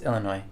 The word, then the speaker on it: Illinois: It's French, so the S is silent.